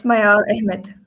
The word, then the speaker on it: Mayaal Ahmed: Today we have Mayaal Ahmed, right? Am I pronouncing that correct? Yeah, Um, it's Mayaal Ahmed.